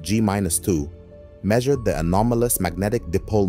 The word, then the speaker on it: g-2: this experiment known as muong G2 pronounced gus2 measured the anomalous Magnetic